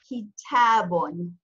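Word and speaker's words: كتابٌ: its isolated form with a double dhamma telling us that it is an indefinite word, and it's pronounced kitabun, kitabun.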